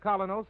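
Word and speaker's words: Kolynos: You can get Colinos at any drugstore tonight. That's spelled K O L Y N O S.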